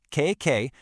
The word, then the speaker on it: keiki: It's pronounced K-K, and it's essentially a perfect little clone of the mother plant.